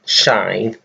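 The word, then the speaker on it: sinh: for hyperbolic with sign with an H behind it is pronounced shine do not ask me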